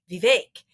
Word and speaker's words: Vivek: of a name, and you said it's Vivek. And I don't remember that as how you pronounced it at Exeter.